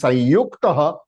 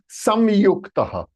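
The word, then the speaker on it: संयुक्त: You can pronounce this thing as Sanyuktaha or Samyuktaha. Samyuktaha. Both pronunciation are the right pronunciation. Okay. So like Sanskrit and Samskrit, both are right.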